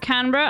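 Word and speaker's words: Canberra: ] chat what's the capital of Malaysia it's pronounced canra I don't care BR Australian pronounced iation koal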